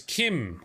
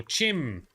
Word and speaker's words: CHIM: And I like one of their theories because in achieving apotheosis, ascending, achieving what is known as Kim, or Chim, CH, I think it's pronounced Kim, is the realization that